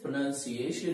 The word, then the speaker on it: pronunciation: ज्यादातर लोग इसे प्रोनाउंसिएशन प्रोनाउंसिएट करते हैं। तो आपको क्या करना है, इसमें कोई भी प्रोनाउन नाउन नहीं है।